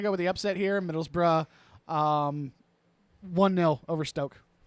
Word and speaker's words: Middlesbrough: be Stoke like stoker fire all right versus Middlesbrough which is m-i-d-d-l-e-s b-o-r-o-u-g-h ope if you need me to respell that I can Metals B borrow b-o-r-o-u-g-h oh got it uh Middlesbrough is a